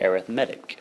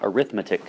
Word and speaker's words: arithmetic: We pronounce it arithmetic, not arithmetic sequence.